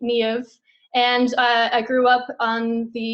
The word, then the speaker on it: Niamh: There's no V in the Irish alphabet. So the M and the H makes the V, Niamh.